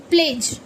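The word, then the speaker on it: pledge: अब ये है पी एल ई डी जी ई प्लेज प्लेज़ मतलब कसम शपथ ये जो हम लेते हैं। तो देखो डी जी आया तो पी एल ई प्ले ये जा की वॉइस निकालेगा और मैंने क्या बोला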